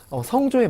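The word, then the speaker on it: สอง: 그래서 성조에 맞게끔 잘 읽어보도록 할게요. 자, 1부터 한번 가보겠습니다. 숫자 1은요 짧게 능 하고 일성으로 발음하시면 되고요. 2는 성 하고 4성으로 잘 발음하시고요.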